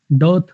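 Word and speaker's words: dearth: डर्थ, डर्थ, आर लगभग silent होता है इसके अंदर।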